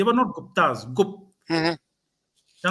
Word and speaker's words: Gupta: वो गुप्त हम्म। Basically, they were not गुप्ताज। गुप्त, हम्म। ओके। चंद्रगुप्त मौर्य, उसको स्पेल हम GUPTA करते हैं, बट उसकी हम्म। प्रोनाउंसिएशन GUPT है।